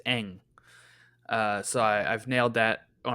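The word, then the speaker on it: Bosco Ng: Um, I just looked up how to pronounce this, by the way, and it's Big Gamma. Eng. Oh, Bosco gotcha. Eng. The NG is Eng.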